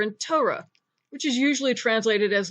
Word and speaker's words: Torah: tough hole involved race comets hey tow rah Torah and that's all the letters of the Hebrew